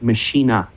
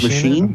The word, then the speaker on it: Maschine: who works at NI, I think it's pronounced Maschine. Oh, and not machine, but I don't know.